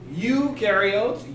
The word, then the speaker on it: eukaryotes: have no new rules eukaryotes you rhymes with do because eukaryotes do have